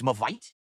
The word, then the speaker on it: Mavite: Oh, it's Mavite. It's not Mavelt.